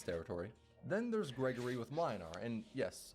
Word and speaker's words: Mlynar: Then there's Gregory with Mlynar, and yes, I know it's pronounced Mwynar, but I do not care. I think Mlynar sounds better. I will put extra emphasis on the L.